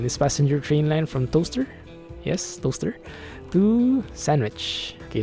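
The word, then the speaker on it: Towcester: how I call this Tao Chester apparently you pronounce that ass toaster I don't know though I ate took a look at it I googled up in it it is pronounced like toaster I think if you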